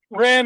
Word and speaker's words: Ren: Ren, like Ren and Stimpy. Ren.